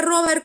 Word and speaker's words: Robert: no el caso de Robert coach como padre de la bacteriología nos cuenta un poco de su experiencia y les voy a narrar una parte chiquitita nada más Robert coach se pronuncia Rober él es este médico